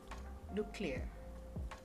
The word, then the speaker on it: nuclear: So in this word we will pronounce as genuine, genuine, arctic, nuclear, okay, and so this is how it will pronounce for these 4 common words.